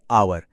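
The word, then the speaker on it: hour: पर यहां H silent है। वो बोलता ही नहीं। आवाज आती है आवर।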